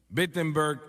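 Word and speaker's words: Wittenberg: Alemania o no perdón empieza con una W pero se pronuncia con una B bettenberg Alemania y clava sus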